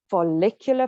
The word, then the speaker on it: follicular: So then after that, you go into your follicular phase. Yes, that's how you pronounce it.